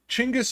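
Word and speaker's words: Chinggis: end up watching this chingis is the proper way to say genas Khan chingis is his name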